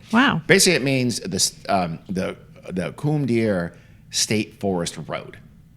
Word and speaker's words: Combadière: Basically, it means the Combadière State Forest Road. And Combadière is like kind of like pronounced comb deer or coom deer, like the last word is deer, but it's D''IR.